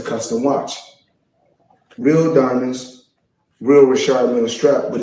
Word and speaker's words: Richard Mille: Now, I must let everybody know, because everybody pronounces it different. Some say Richard Mille. Myself, I say Richard Mille, because that's what I was told in 2012 when I first purchased the watch.